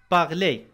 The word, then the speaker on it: parler: مثلا في كلمة parler، parler R في الوسط نطقت لكن في الآخر عندما سبقتها أ أصبحت أي، parler يتكلم.